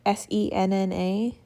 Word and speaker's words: senna: I think that's how you say it, S-E-N-N-A, senna, foil from Plan With Me stickers.